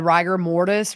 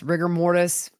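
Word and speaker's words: rigor mortis: her arms she had ryer mortise riger mortise there's a debate on how you say it I say rigger mortise but after the coroner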